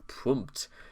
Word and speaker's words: Pmurt: that Trump spelled backwards is Pmurt, which rhymes with hurt, and that Trump would badly Pmurt the US if elected.